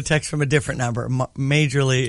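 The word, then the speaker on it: Majerle: Majorly is pronounced Marley. Like Marley.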